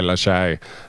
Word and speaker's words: Lachey: Lockie and his wife, I refuse to say Lachey. Why? Because it's Lockie. It's not. What? If it was Lachey, wouldn't it be spelt with a E-T and a little thing over the E?